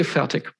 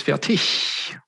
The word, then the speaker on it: Fertig: Because usually if I introduce myself, at least in a German context, I say Fertig, with more or less a K or a hard G in the end. But proper German, it's Fertig, with some ish sound at the end.